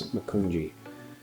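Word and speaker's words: Macungie: I believe you pronunciate the town is Makunji.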